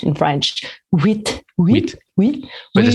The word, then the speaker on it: huit: Huit. But there's you don't pronounce the T, right? It's oui.